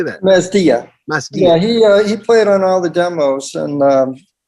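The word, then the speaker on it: Masdea: Mastia.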